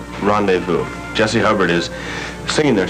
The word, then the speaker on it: rendezvous: It's spelled Rondayvoo. Rendezvous.